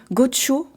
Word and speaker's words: Goxo: trouve en base que ça se prononce tu sais les X ils ont l'air parfois de s'appeler c'estis comme les pinchos ça se trouve faut dire gocho ok donc il s'agit